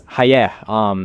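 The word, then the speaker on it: חיה: ChatGPT responded that Ḥawwāh is linked to the Hebrew root chaya, which is pronounced as hayeh, and as we know, hayeh means life, or to live in both Hebrew and Yoruba.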